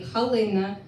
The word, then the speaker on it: Halyna: Like I put uh after Galya, I said, "Yes, her name in Ukrainian would be Halyna with an H, but I wanted to spell it with a G, with a hard G, because that's how I related to her."